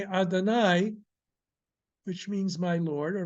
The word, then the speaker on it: Adonai: the kamat under it we are being told to pronounce it as Adonai uh so uh when we come across in prayers in blessings the double we will pronounce it as Adonai so that all right